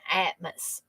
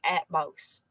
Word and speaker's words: Atmos: wrong all this time because I was saying Atmos and every time now I hear people's mentioning they say at most so I think I would probably mispronouncing that a pact with revealing